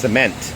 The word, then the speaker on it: cement: ต้อง เตือน นะ ฮะ Cement การ เน้น พยางค์ มัน สำคัญ ตรง นี้ แหละ นะ ครับ ถ้า เรา พูด ว่า Seon เน้น พยางค์ แรก Seon ก็ จะ แปล ว่า น้ำ อสุจิ นะ ฮะ เออ นะ S e M e N นะ ฮะ ก็ คือ น้ำ อสุจิ นะ ฮะ ดัง นั้น เวลา จะ พูด ปูน นะ ฮะ เน้น พยางค์ ที่ 2 C นะ โอเค แล้ว